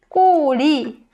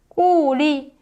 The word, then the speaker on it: 꼬리: So you tense your throat more than when you're pronouncing 기억. g. So 꼬리 means tail. 꼬리.